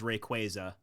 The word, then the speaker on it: Rayquaza: The official pronunciation is Rayquaza. Oh yeah. No, that sounds gross. Supposed to be like a mock of Quazar but no. Rayquaza.